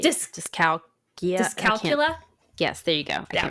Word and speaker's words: dyscalculia: Oh, I don't have that, but It's dyscalculate. Dyscalculia. dyscalculia? Yes, there you go. I can't pronounce it.